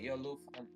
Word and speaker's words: Jolufan: Oh, by the way, Jolufan. J. That's how you pronounce the J in Polish, not Spanish. Oh, we got Polish stuff. Yeah, because in Polish you say ya.